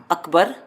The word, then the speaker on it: Akbar: Akbar. Akbar? Yeah, and it's Akbar, not Akbar.